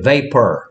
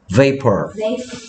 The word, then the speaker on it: vapor: Vapor. V 소리는 윗니가 아랫 입술을 스친다. V. Okay. P 소리는 입술을 붙였다 뗀다. Vapor.